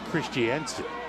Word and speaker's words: Christensen: It's pronounced Christiansen, who had educated earlier today.